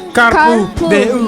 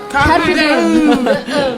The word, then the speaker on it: Carpe Diem: Ayan, sabi ni Carpe Samir, ang ano daw, ang pronunciation daw ay Carpu Deu. Diem. Carpo Day. Carpe Deo. Carbo. Carpe Diem.